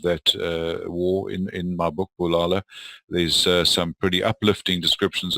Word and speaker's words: Bulala: And Bulala, by the way, is a Zulu word, so it's not pronounced Bulala, although it reads that way, but it's Bulala, and it means destroy or kill.